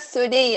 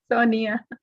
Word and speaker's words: Sonia: No, I just heard Sunia. I said, who's Sunia? How do you pronounce your name? In the pronunciation. Sonia.